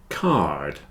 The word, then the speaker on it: card: War rhymes with poor card here is a greetings card it has a d on the end not like car card car there is a car on this card card with a d car without a d card car Castle or